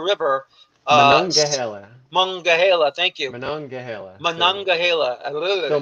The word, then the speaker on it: Monongahela: You can help me with my pronunciation. The Monongahela River. Monongahela.